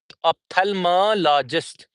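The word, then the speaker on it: ophthalmologist: I would say that the the thing is the word is opthalmologist. Athalmologist. Okay. Logist. Logist. Logist. It would be athalmologist.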